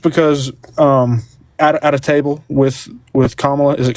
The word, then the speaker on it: Kamala: Just because at a table with Kamala, is it Kamala?